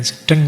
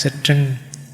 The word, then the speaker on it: sedeng: Sedeng ndak sedeng. Sedeng itu apa? Bukan sedeng ya bacanya. Ya, sedeng itu kamu gendeng itu.